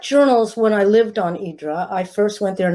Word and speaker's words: Hydra: Hydra, first of all, when you live there, it's called Hydra, which is the pronunciation that differentiates us from the tourists, because the tourists always say Hydra.